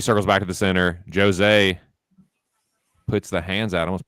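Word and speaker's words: José: Jose Aldo Jr. I know you're supposed to pronounce it Jose.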